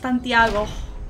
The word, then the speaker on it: Santiago: It's pronounced Santiago.